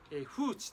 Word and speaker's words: 風池: 風池というのは風邪に、池と書いて風池と読みます。